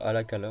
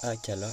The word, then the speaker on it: Akala: et on remet Akala je dire alakala non Akala j'ai trop de syllabe c'est Akala et pas alakala bref Akala donc on